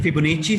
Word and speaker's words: Fibonacci: फाइबोनेकी series, britisher कहते हैं फिबोनेची series. इसको उनका प्रोनाउंसिएशन थोड़ा अलग होता है, फिबोनेची सीरीज.